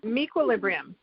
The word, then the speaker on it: meQuilibrium: Can you pronounce it for me, Alanna? I'm having difficulty. It's called Mequilibrium. Mequilibrium, thank you.